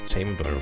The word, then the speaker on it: chamber: early in the world chamber is pronounced like chamber with a long a oh chamber I see